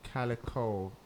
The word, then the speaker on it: Calyco: not formed like officially how did the name Calico come about that pronounce that correctly yeah yes oh thank God